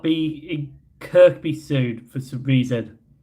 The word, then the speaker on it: Kirkby: May or may not be in Kirkby soon for some reason. Or Kirby. Come on, Scousers. Why is it Kirby when it's spelled Kirkby?